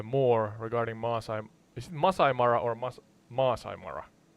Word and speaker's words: Masai Mara: regarding Masai is it Masai Mara or Mas Masai Mara it's pronounced Masai Mara with the emphasis on Masai and a slight pause before Mara all right all right